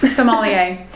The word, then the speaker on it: sommelier: Sommelier.